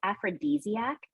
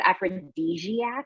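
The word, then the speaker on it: aphrodisiac: my favorite words is aphrodesiac nice and um we use it a lot in narration and I pronounced it wrong one of the first few times that I I said aphrc with like a j one of those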